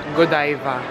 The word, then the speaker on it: Godiva: Alam niyo ba na ang tamang pronunciation pala ni ito ay godiva so kailangan tama yung